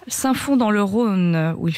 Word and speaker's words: Saint-Fons: Est-ce que le S se prononce? Non, il ne se prononce pas. Saint-Fons dans le Rhône, où il fait très très chaud, il va faire très chaud cet après-midi.